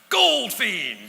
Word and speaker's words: Goldfein: And I had no idea that my name was actually pronounced Goldfein.